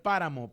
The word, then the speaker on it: páramo: allí en cabina a poner páramo para acento en la a páramo ahí está apareciendo